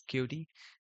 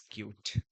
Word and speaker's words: Qt: some QD things and sorry for pronouncing this cutie it's like more good for me to pronounce cutie. So that's why I do that. Actually, it's cute.